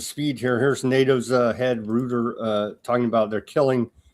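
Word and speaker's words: Rutte: Here's NATO's head rooter. Uh talking about they're killing how many what's his name? root, but I always hear him pronounce a rooder, but anyway, root.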